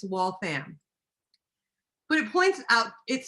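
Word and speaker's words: Waltham: Boston and I said we're going to walam and the taxi cab driver actually looked at me and said there isn't a town named walam but there is a wal fam and I literally wanted to smack them over the C the taxi seat I was just like you got to be kidding me so if you ever go there it's wall fam but it points out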